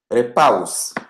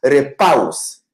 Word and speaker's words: repaus: Repaus.